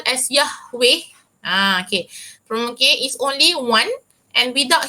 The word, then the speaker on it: Yahweh: So without Yahweh there will be no other creation in this universe. So kalau awak tengok madam, kalau baca buku lepas ni jumpa perkataan YHWH, the pronunciation is Yahweh.